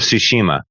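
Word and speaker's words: Tsushima: Ghost of Ssushima. That's how you pronounce it.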